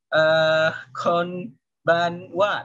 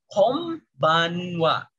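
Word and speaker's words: 今晩は: Misalnya tulisannya konbanwa, tapi bacanya jadi kombanwa. Jadi kombanwa.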